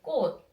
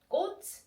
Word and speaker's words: 꽃: Okay, but like 치 sound actually sounds like 드 sound. So when you pronounce it, we say 꽃. It's not 꽃. No, 꽃.